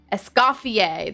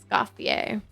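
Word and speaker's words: Escoffier: Essafier. That's right. Essafier. Thank you.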